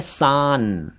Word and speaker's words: सान: एक शब्द है सान। सान अलग होता है और शान अलग होता है।